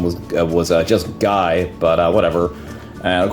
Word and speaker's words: Guile: my life growing up I always called him guile I never really knew that the correct pronunciation was was uh just guy but uh whatever and of course you know